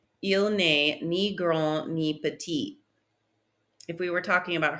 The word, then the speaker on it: petit: Short is petit. Petit. If I added an E to that, I would pronounce that last T. Petite.